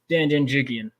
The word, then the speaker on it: Janjigian: Let's bring in our guest of honor, Janjigian. How you doing? Did I pronounce that correctly, by the way?